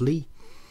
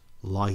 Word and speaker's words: Lie: to know about lee theory is that it's pronounced lee theory not lie theory it's named after a guy called lee